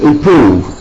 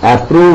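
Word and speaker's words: approve: അപ്രോച്ച് Xavier B എച്ച് M that's one then ഇപ്രൂവ് ഇപ്രൂവ് അപ്രൂവ് എന്ന് മലയാളികൾ ഉച്ചരിക്കുന്ന എപി ബി ആർ ഓ ബി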